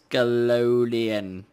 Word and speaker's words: Ascalonian: So tonight, we are going to tackle the Ascalonian Catacombs. Did I say that right? Ascalonian. Yes. Ascalonian. Yes, with a C sound. Well, not in a hard C sound.